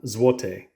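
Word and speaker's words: złoty: is really interesting because how you say it depends on the number so this one right here is Juan zote zote and if it's two to four it's pronounced a little bit different and again I'll try my best but this is to zote so it's a little bit different and if it's five or more it's zotek zvotec so very interesting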